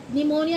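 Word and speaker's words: pneumonia: पी वो पी से तो स्टार्ट होगा ही नहीं। निमोनिया की स्पेलिंग क्या होती है?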